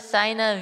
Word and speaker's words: SainaVT: This is Sina. is silent.